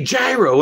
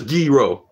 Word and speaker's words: gyro: peeves at one time when people go you're greek and you say gyro yeah because i am speaking english in america and that's how you say gyro in english it's like a gyroscope you don't say hey man let me get the gyroscope hey hey nurse give me the gyroscope there's no such word as giro and then that snowflake